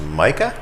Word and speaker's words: Majka: And discussion, I believe it's pronounced Micah? Oh, sorry.